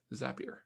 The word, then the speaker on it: Zapier: something on yeah but it rhymes happier with zapier is that the thing